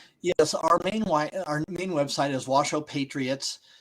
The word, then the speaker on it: Washoe: Our main w our main website is Wo Patriots.